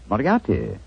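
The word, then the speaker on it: Moriarty: I'm afraid I'll have to begin calling it the way it looks. M O R I A R T Y. Miati. Moriati.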